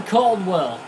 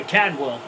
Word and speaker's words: Cadwell: Elmer Caldwell. I should say Cadwell. I say his name wrong all the time.